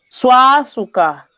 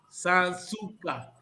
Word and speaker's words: Sansuka: Mana Bela. Suaçuca. Não, Sansuka. Sansuka.